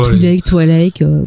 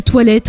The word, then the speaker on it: Twi'lek: Donc elle, c'est une Twi'lek, si je prononce bien. Ouais. Alors personne sait bien prononcer Twi'lek. Ouais, là, donc Twi'lek. Tout est accepté. J'ai vu Toilette aussi, mais bon.